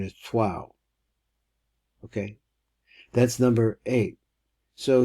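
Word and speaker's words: Troyes: had a French friend who this is we pronounce a troas this is where Rashi came from and he he said the proper pronunciation is twow okay that's number eight so here here we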